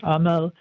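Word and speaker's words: أمل: Um, you know, the jewelry that says hope in Arabic, which is pronounced Aml, or faith um or wisdom or love.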